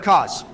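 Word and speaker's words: Kos: those were tough bosses it's pronounced orphan of cause or some say CM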